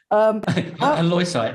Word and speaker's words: halloysite: Going back to the kaolin and the H word, because I can't pronounce it. I can't, Michael. Halloysite, there we go.